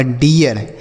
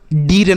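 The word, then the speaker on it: dear: meet पढ़ते हैं लेकिन यहां पर डीर नहीं पढ़ेंगे डियर पढ़ेंगे क्यों हो रहा है क्योंकि इस आर की वजह से हो रहा है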